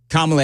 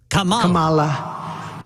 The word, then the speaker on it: Kamala: But apparently people are bashing President Trump, former President Trump, whatever, because he was mispronouncing Kamala Harris's name last night.